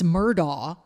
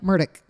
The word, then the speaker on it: Murdaugh: is not pronounced Alex murdaugh it's Alec murdick Alec murdick Alec murdick he'd say well I'm Alec murder and it's murdick not Murdoch Murdock well it's like murder